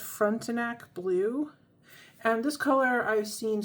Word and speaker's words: Frontenac Blue: So we're going to be reviewing one of the inks they sent me a sample of, and I believe it's pronounced Frontenac Blue.